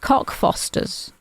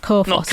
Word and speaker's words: Cockfosters: But we do pronounce it Cockfosters. That's not Co-Fosters.